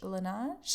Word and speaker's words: Laneige: Laneige? I think that's the pronunciation.